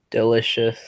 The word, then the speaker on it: delicious: Which will be the only time you cross out a letter in a final stable syllable, but it is pronounced soul. Delicious. Okay, the CI says Shush. yes, delicious.